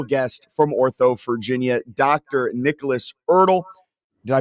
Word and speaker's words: Erdle: Nicholas Erdle. Did I pronounce that right, Doctor?